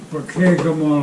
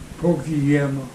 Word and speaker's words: Pokegama: On Pokegama Lake. Everybody called it Pokeyama. Yeah. Okayama, huh? Yeah, because they didn't know how to pronounce it.